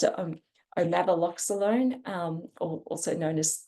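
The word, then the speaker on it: omaveloxolone: it was last year um it's um of omav loone I'm sorry I mispronounced it umava alone um or also known as Sky Clarence this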